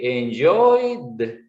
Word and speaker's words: enjoyed: So you would say enjoyed. So the d is going to pronounce enjoyed.